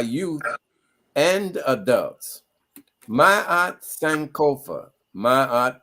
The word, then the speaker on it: Ma'at: Ma'at Sankofa, Ma'at pronounced Ma'at, means truth, and Sankofa means look back.